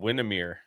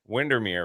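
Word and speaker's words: Windermere: So, I'm like I'm just driving, you know, and like uh I ended up in a place called Windmir. Wintermir. Windermir, right?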